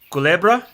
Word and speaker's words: Culebra: at old san juan yesterday and going to culebra is that how you say it yes snake